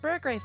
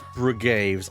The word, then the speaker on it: Brugaves: The pronunciation is Brugaves. I know I messed that entire up on my stream. No. Don't make the same mistake as me.